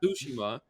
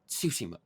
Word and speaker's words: Tsushima: T and an S, he kind of pronounces the T and the S at the same time. He goes like it's like Tsushima, like it's so weird.